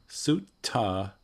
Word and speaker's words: sutta: Yeah, so the dot below the consonant indicates that it's what's called retroflexed. So it's a different vagga or class of consonants, and it's pronounced in a different part of the mouth. So sutta would be right with the tongue behind the front teeth. T, right? Like sort of like a regular American T.